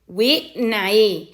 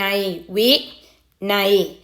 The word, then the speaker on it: วินัย: ยักษ์ เป็น ตัว สะกด ซึ่ง กลุ่ม นี้ ก็ จะ ออก เสียง ไอ เหมือน กัน นะ คะ ตัว อย่าง ที่ คุณ ครู ให้ มา คำ แรก นี่ อ่าน ว่า วิ วิ วิ อะไร ลูก วินัย นอ หนู ไม้ หัน